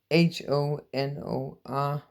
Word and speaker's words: honor: H-O-N-O-R. Or maybe it's different from English to American. But then you say honor, honor, honor. You don't pronounce the H.